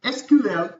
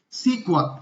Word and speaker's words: SQL: sequel history and firstly we can pronunciate it as a sql or we can call it as a sequel and the full form